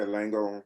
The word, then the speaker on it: Langone: Langone, how you pronounce that, Doc? Yeah, Langone.